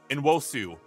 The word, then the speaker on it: Nwosu: Nwosu, I think is how that's pronounced, but correct me if I'm wrong.